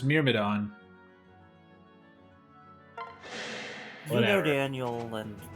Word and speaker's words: Myrmidon: Robin should be able to take out the Mithrodon, and then Crom can start It working doesn't even say on Mithrodon, it the- says Myrmidon.